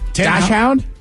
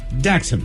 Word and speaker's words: dachshund: out a list of the 10 most commonly mispronounced dog breeds uh the wiener dog is number one dash hound Dash you say dash dash hound uh would